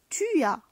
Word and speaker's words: tu as: Tu as as. On ne prononce pas le s.